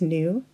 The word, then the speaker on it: knew: Sometimes the K is silent when followed by the letter N. KN sounds like na. The silent K is in the words new, night, and not.